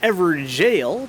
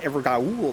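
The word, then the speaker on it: Evergaol: I hate that word because apparently it's pronounced Everjail, but someone was drunk on the keyboard. Everjail? I gotta say Evergaul though.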